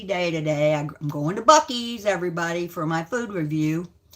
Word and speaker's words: Buc-ee's: I'm going to Buc-ee's, everybody, for my food review. And it's spelled, I thought it was spelled B-U-C-K-S, but it's not.